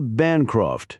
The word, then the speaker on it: Bancroft: Sarah Bancroft." she added, stressing the first syllable of the rather patrician-sounding family name.